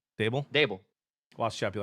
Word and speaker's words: Daboll: Brian Daboll. Is it Daboll or Dable? Yeah, Dable.